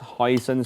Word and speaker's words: hoisin: So this is our hoisin sauce. Hoisin sauce. How do you say hoisin? Hoisin. Hoisin. Hoisin. Hoisin sauce. 海鮮 Yeah, hoisin.